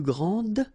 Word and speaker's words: grand: as the plural form for the masculine, grand. You don't pronounce the final D, you don't the D here, and you don't pronounce the final S.